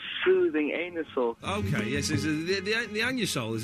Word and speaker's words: Anusol: OK, yes, the anusol, as it's actually pronounced, it isn't that satisfying.